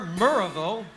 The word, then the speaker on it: Maryville: Maryville or Murrayville, which is how they pronounce M-A-R-Y-ville.